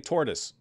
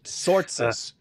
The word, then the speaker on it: Tzortzis: But you keep saying tortoise. Well, you're just misunderstanding. Tzortzis. Wait a minute. I was thinking maybe you can't pronounce that sound, but Germans have that sound.